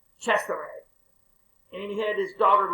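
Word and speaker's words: Cesare: or something and uh if you ever hear his name in in italian it's pretty cool it's to me it's caesar but it's chester and he had his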